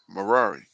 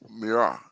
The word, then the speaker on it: Merari: among the sons of Levi, namely Gershon, uh, Kohath, and Merari. Mirah. Merari. Merari. I said it right.